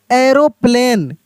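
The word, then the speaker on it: aeroplane: तो जैसे देखिए यहाँ पे ए ई आर ओ पी एल ए एन ई, तो क्या इसको पढ़ेंगे, एरोप्लेन। एरो देखिए, एरोप्लेन। तो यहाँ पे हम लोग ए ई को क्या पढ़े, यहाँ पे मेरे भाई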